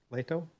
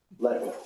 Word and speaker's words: Leto: And last on the list, we have Leato. Got the name somewhere close. Leto. Leto. That's okay. Everybody mispronounces it.